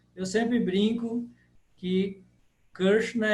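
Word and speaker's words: कृष्ण: o f f então a pronúncia seria ksna ksna o que você tem que fazer é enrolar a língua a língua tem que ficar voltada para o céu da da boca ksna eu sempre brinco que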